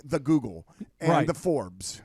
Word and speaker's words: Forbes: We like to go to reliable sources like the Google and the Forbes. It's called Forbes, but if you want to mispronounce it at home, you could say F-Orbs.